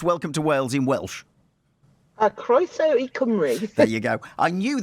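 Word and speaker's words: Croeso i Gymru: Can you pronounce welcome to Wales in Welsh? Croeso I Cymru.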